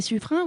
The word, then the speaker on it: Suffren: Le secrétaire écrit son nom in. Ce qui prouve bien que c'est la prononciation correcte qu'il faut utiliser. Donc nous dirons suffrin si vous voulez bien.